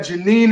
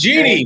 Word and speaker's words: Jeannie: We got Janine in the chat as well. Janine, how are you? Nice to meet you. It's Jeannie. And Jeannie, you can't say her name wrong. It's Jeannie.